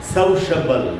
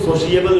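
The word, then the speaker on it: sociable: ये जो वर्ड है इसका सही उच्चारण है। सौशबल इसको सोशिएबल नहीं पढ़ना चाहिए।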